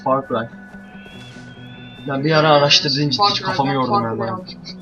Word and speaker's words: Far Cry: Cry öğrenmeyi öğreneceğim herhalde far 3'e for Cry diyordum ne derse for Cry 3 diyordum for Cry galiba zaten yok far diye okunuyormuş Far Cry ben bir ara araştırdığım